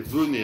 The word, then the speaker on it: venait: Donc c'est venait, hein, d'où venait, on dit bien le E, hein.